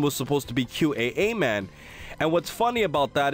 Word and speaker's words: Qaaman: So, it's supposed to be QA man.